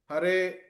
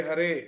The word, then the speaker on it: ಹರೇ: ಉಚ್ಚಾರಣೆ ಇದು ನಾವು ನೋಡಿದ್ವಿ ಏನು ಹರೇ ಹರೆ ಅನ್ಬೇಕಾದರೆ ಹರೆ ಹರೆ ಅಂದ್ರೆ ದೀರ್ಘ ಅಕ್ಷರ ಎಲ್ಲಿದೆ ಹರೇ ಹರೇ ಅನ್ನುವಲ್ಲಿ ಹರೇ ಹರೇ ಹರೇ ಅಥವಾ